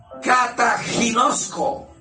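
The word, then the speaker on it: καταγινώσκω: Cataginosco, así se pronuncia, cataginosco.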